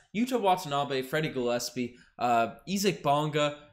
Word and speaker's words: Isaac Bonga: watanabe freddie gillespie uh isaac bonga which that is the correct pronunciation ezik bonga sam dekker and as